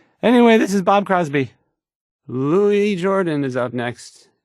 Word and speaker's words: Louis Jordan: Louis Jordan is up next. It's spelled Lewis, but don't be fooled.